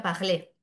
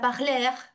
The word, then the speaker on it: parler: Eh, en francés el verbo hablar se escribe parler con una r al final y se pronuncia ple. Cuando un alumno eh pronuncia pajleg de acuerdo con Alexópul, eso sería un caso de adición.